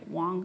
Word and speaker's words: Wang: my name is Wang first name like the flower last name w-a-n-g actually sounds like Wong that's how you pronounce it in Chinese and if you type